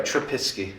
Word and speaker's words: Trubisky: The issue with Trubisky. No, you said it right. Trubisky.